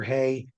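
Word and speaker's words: Heye: Haye, these people that were in the Grand Canyon. Dr. Haye is involved.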